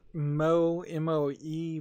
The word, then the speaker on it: MOE: There's MOE, which is pronounced Moe in Japanese, Jigsaw on Steam, which